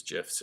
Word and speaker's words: GIF: GIF, it's pronounced GIF. If you go look online, the creator of the GIF said it is pronounced GIF, as in the peanut butter.